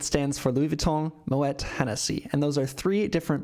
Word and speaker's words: Hennessy: below and Hennessy actually has Irish Origins uh again that's why you pronounce the h in Hennessy so LV MH is